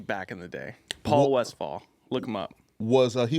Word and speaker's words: Westphal: Westphal, you said it right, yeah. Westphal. Everyone says West Paul.